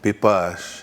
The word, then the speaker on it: Piipaash: So the other one, P-E-E-P-O-S-H, is said exactly the same way, Piipaash.